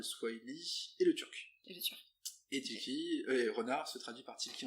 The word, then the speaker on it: Tilki: Pourquoi le nom Tilki et pourquoi le renard comme mascotte?